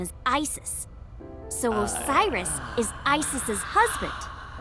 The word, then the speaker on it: Isis: About a set. Horus's mom is named Isis, but in ancient Egyptian, it's pronounced closer to Iset or Aset.